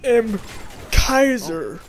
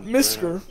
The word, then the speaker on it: MKISER: It's pronounced Imkaiser, not Misker. I'm not something that you put on top of male cats, you know, male whiskers, Miskers.